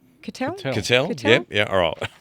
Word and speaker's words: Cuttell: How did we decide it was pronounced? Cuttell?